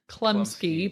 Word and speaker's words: Chlumsky: my girl um so google image search anna klumsky but it's spelled chlumsky anyways so how so